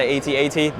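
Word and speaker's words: AT-AT: the water and he climbs up the 8080 that's how I say it some people are not gonna like that but how do you say an 8080 or thank you Elsie okay you're one of us they do say a DAT in the game the lore which is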